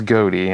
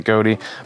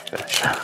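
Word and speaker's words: Ghoti: goatee cards and uh it's official pronunciation is goatee I do have a I haven't seen a uh Yu-Gi-Oh official TCG video where they do pronounce it goatee but you can also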